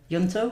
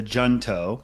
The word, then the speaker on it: Junto: for kids DC and also in 2017 the yunto hunto so there's a few ways to say it we call it the junto okay which no no one actually pronounces that